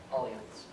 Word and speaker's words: Allianz: And now he's working as an actuary at Allianz, which that's the right way to pronounce it.